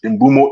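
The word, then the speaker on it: Mbeumo: great business cuz I think we need Premier League proven players and then we're trying to get inumo now that's how they say we should pronounce it inbumo in a bit competition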